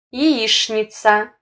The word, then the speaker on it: яичница: Как ШНа в словах скучно, яичница.